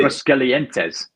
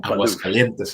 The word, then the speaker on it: Aguascalientes: Did he pronounce that right, Joseph? Yeah, that's good. That's good. I think everybody. Aguascalientes or Aguascalientes, señor.